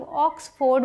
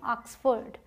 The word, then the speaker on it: Oxford: अब है ये OXFORD, इसे बहुत सारे लोग ऑक्सफोर्ड बोलते हैं, लेकिन ये क्या है? ऑक्सफोर्ड।